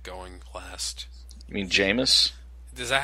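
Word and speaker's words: Jameis: you say that famous jamus is basically a good way to remember it rhymes with famous rapist jamus oh God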